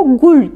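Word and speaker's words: غول: Gulyabani'nin adı Gohul diye yazılıyor, Gul diye okunuyor ya da işte Gul.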